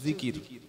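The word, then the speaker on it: ذكر: উপরে বিষয়টা হচ্ছে আল্লাহর জিকির কি নাম বললাম জিকির জাল কাফ র তিনটি অক্ষরে একটা শব্দ জিকির বাংলায় থেকে হলে হবে অন্তর্য হস্ র জিকর এটা বাংলায় আরবির উচ্চারণ আর অর্থ হলো আল্লাহর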